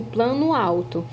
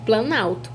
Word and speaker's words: planalto: Então, eu não pronuncio plano alto, eu pronuncio planalto.